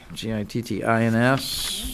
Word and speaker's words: Gittins: On line 79, I believe it is, although it's Gittins rhymes with kittens, it's spelled with an I, Gittins.